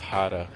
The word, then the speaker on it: jarra: J A R A but pronounced Jarra.